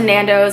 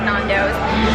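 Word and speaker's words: Nando's: trip with some Nando is it Nando or not it's Nando finally saying it right I've been saying it nandos and this is our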